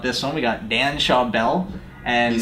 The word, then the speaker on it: Schawbel: really excited about this one we got Dan Shaw Bell and you said it right I did say